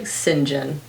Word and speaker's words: St. John: Megs and Godric St. John. These hoes own this book design. I'm pretty sure it's pronounced like Sinjin.